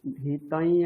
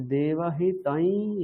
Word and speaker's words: देवहितं: ঠিক আছে, হিতং বা হিতম এসব বলবো না। ঠিক আছে, তাহলে দেবহিতাই যদায়ুঃ এটা বলবো, ঠিক?